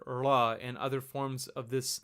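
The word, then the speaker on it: ळ: The sound is produced by taking your tongue and just kind of giving a weak flap. It's kind of like curling your tongue backwards and just trying to say an L sound, but it's going to kind of flap out very quickly.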